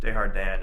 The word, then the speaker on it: Desjardins: Desjardins is what I've apparently learned is how you pronounce that, by the way.